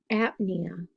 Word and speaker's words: apnea: it's right underneath plasm the P is silent so it's it's dyspnea or apnea so you'll be thinking